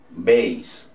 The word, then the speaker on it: base: Base. ¿Ok? La A en inglés es A. La E no suena, entonces termina en S.